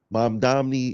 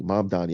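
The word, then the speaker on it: Mamdani: But the fact of the matter is that Mom Domney is saying, wait, is it Mom Donnie? Mom Donnie.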